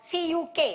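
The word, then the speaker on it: Ćuk: category again which is known as chuk converter or cuuk however you may pronounce the name generally many people call it as chuk converter so chuk converter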